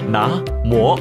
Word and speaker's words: 南無: 古时的南无读作拿摩，与梵语发音最接近，于是就